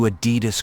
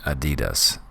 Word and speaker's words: Adidas: on per syllable so there's three syllables in Adidas Adas so what I want